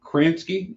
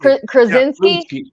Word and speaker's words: Krasinski: back to um to John um is it kransky is anything yeah Krasinski Krasinski thank you I can never say his